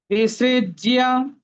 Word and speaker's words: विसृज्य: ইয়, তাহলে বিসৃজ্য, ইয়, বিসৃজ্য। আমরা কিন্তু বর্গীয় জ ফলা মনে করে ডাবল জ বলবো না, বিসৃজ্য, ইয়র উচ্চারণটা আমরা এখানে স্পষ্ট ভাবে করার চেষ্টা করব।